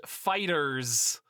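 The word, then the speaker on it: FighterZ: The game is called Dragon Ball Fighter Z, but it's pronounced Fighters.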